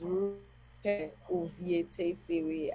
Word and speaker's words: Rukevwe Uvietesivwi: My name is Rukevwe Uvietesivwi. I'm from Delta. I think that's why Mayowa found it very difficult to pronounce the name.